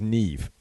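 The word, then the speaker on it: Niamh: not quite that is Nev Nev Nev okay yeah the MH definitely makes a V sound exactly perfect and that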